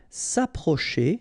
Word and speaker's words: s'approcher: S'approcher de, okay, C and H together, sh, and then ER at the end, et, chez. S'approcher. S'approcher de.